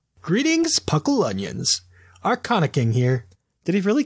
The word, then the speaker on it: Arcanine: I don't know if it's Arcana or if it's Arcanine. Like, I can't tell with the spelling. But continue. The pronunciation guide says it's Arcana.